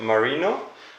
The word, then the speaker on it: Marino: and you are from, let me say it right, Marino. I was born in Marino.